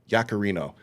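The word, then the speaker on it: Yaccarino: What's Do you know how to pronounce this woman's name? Uh, Yakarino. Yakarino.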